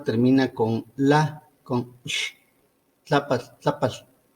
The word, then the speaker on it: Tlaapatl: Entonces aquí aparece en este nombre el alargamiento vocálico en tlápatl, porque no es lo mismo decir tlápatl que decir tlápal, que se escucha